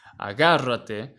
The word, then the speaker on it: agárrate: Now, if you listen to how it is pronounced, agárrate, the reason why it has a tilde here is because it is a esdrújula, meaning that the inflection of the word is in the, not in the last, not in the second last, but on the syllable before that one.